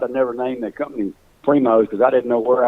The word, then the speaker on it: Primos: Is Primos. Primos is my given name. Is the name of the company. You know, probably starting out, I'd have never named the company Primos because I didn't know where I was going